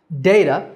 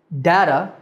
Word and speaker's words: data: But there's some debate about the correct pronunciation, because there are three ways that people say this word. data, which is the way that I said it, data, and even data.